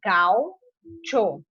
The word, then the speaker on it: gaucho: Então, quando a gente for separar essa palavra, vai ficar gaucho. Ficarão só duas sílabas, tá bom?